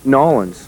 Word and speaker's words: New Orleans: you say where we at because i don't pronounce it right oh no nollens there you go stick around here in new